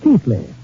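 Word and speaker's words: Keighley: ancestral town of chile pronounced in england keithley although how they made keithley out of k-e-i-g-h-l-e-y i'll never know but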